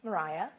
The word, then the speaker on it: Maria: Her name, by the way, her first name is spelled like mine, M-A-R-I-A, but it's pronounced Mariah, as I was shamed